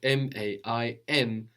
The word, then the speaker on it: main: And this is spelled M-A-I-N. We don't hear that N, la main, the hand.